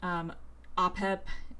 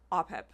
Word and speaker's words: Apep: Apep. It's how you say it. It's Apep. But in our film, we say it as Apep.